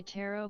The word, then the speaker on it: tarot: Maybe he should try tarot card readings and palm readings. Same difference. Wait, is it really tarot? You don't pronounce the T at the end.